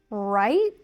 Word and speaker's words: right: So, here we have right and light.